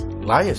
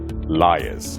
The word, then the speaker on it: liaise: But the proper way to say this particular word, it's not liars, it's liaise. You liaise with someone.